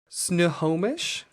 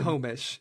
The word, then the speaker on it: Snohomish: to look this up because I could not pronounce it, but it's quite simple. It's Snohomish. Fun name. Snohomish. Snohomish.